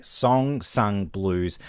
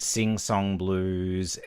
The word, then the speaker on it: Song Sung Blue: So, I'm going to say song sung blues. I keep calling it sing song blues.